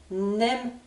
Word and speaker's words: n'aime: Pour la forme négative, ce sera la même prononciation, mais attention, cette fois-ci, j'ai un N supplémentaire qui correspond à la forme négative. On n'aime pas.